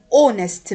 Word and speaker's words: honest: an idea idea an honest man honest man look here the H is silent we pronounce the o a honest man an